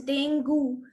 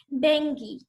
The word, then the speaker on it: dengue: It is not pronounced as dengue. Many of you might be pronouncing it dengue till today, but now it is not going to happen. Its correct pronunciation is dengue.